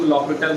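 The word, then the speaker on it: L'Hôpital: एच जो है यहाँ पे क्या होता है? साइलेंट होता है। ठीक है, एच और एस क्या हो जाता है? मतलब साइलेंट क्या होता है? हम लोग बोलते हैं एल हॉस्पिटल को क्या बोलते हैं? लॉपिटल रूल बोलते हैं।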